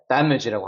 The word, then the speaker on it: damage: 여기 같은 경우는 강세가 여기 있기 때문에 damage라고 합니다.